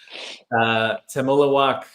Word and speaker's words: Temulawak: Temulawak said, guys, just call me Temi. I'm launching my company soon. It's pronounced Temu Lawak. It's Indonesian.